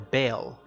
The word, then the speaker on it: Baal: The Mesopotamian or it's a certain type of religion, but the god Baal or Baal, I think it's spelled B-A-A-L or B-A-E-L. It depends on the region you're from, but the god Baal,